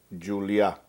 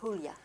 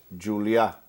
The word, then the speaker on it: Julia: It's not the H sound. It's not Julia. Well, Julia would be in Spanish. Julia is in Catalan. And my family has always pronounced it like they pronounce it in Catalan.